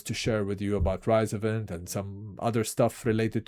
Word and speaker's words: RISOVENT: So when I say rise event is rise rise rise event rise rise to invent um but I understand some people they call it resvent because if it's revent it's r to invent